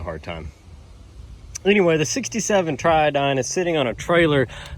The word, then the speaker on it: Triodine: So, the boat video where we took the Triodine out. Also, a few people in the comments kept spelling it with a Y. This one's spelled with a I. It's Triodine.